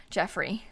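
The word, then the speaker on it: Geoffrey: oh this plant oh his name is jeffrey spelled like jeffrey landgrab with a g g-e-o-f-f-r-e-y jeffrey because the baguettes are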